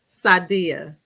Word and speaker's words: Saaudiah: So pronounce your name for me. Sadia. Oh, it's Sadia. I done made it all fancy. Sadia. Added a few syllables, but it's all good.